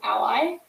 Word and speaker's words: a11y: will misspell it um so a11y but short is ally um i'm gonna actually